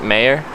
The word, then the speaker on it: Meagher: Meagher's pronounced mayor? Okay. Why'd they put the G in there then?